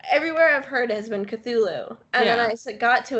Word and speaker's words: Cthulhu: And I'm like, "Dude, just admit that it's phonetically would be pronounced Cthulhu." And the way that you're trying to make it sound just doesn't exist and it doesn't matter.